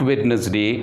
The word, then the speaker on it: Wednesday: Wednesday. Most of us, we pronounce it Wednesday. Actually, here also D is silent. So we have to say it is not Wednesday, it is Wednesday.